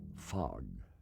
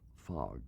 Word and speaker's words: fog: Now, at that time, I was a little afraid of fog because I mispronounced it very easily, and instead of an O, it became a U. The Killing Fog.